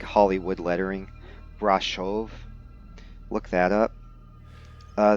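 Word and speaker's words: Brașov: in like hollywood lettering brashov look that up uh that that shh pronunciation is not sh it's actually a special character in romanian an s with a comma under it but a lot of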